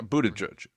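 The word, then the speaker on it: Buttigieg: no let's go to how do you say Buddha judge is that how you say yeah Buddha judge yeah just Buddha judge Buddha judge judge uh I got two cuts from Buddha judge uh 410 and or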